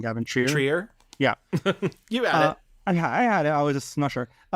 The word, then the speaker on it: Trier: Trier?